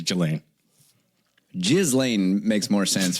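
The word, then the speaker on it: Ghislaine: you remember his partner jizan Jalan Maxwell now Jalan Maxwell jiz Lan is the way you pronounce it is it jizan I think it's gillain jiz Lan makes more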